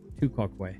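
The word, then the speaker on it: tu quoque: Um, so, uh, pronounced tua quaquay. Tuaquay.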